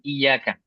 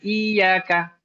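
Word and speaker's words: إِيَّاكَ: Ini banyak yang tidak tepat cara membaca kalimat iyyaka, ya. Ada yang bacanya ditekan iyyaka, tapi tetap masih kurang tepat. Kenapa? Karena ini terbaca dengan seperti huruf kalau lihat di tangan saya seperti huruf i ya. Di iyyaka, iyyaka harusnya i double y a. Iyyaka, iyyaka. Ya. Jadi bukan I-I-Y-A.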